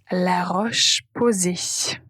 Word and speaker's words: La Roche-Posay: Répétez la prononciation après moi. Avène. Puis La Roche-Posay. La Roche-Posay.